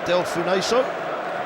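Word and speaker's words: Delfouneso: Ashley Young going up alongside Del Funeso. Just checking the pronunciation, Ben. Apparently the E's silent.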